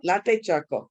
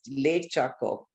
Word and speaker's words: Latte choco: Latte choco, like chocolate. Uh-huh. I said no. I read it as late choco. I thought it's late, but he said no.